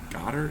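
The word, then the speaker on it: Goedert: dallas val's got her is it got her is that how you say it yeah yeah okay adam ten dollars for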